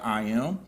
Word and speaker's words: IYAMM: of course, and now so it's called I Am, and it's spelled IYAMM, and it stands for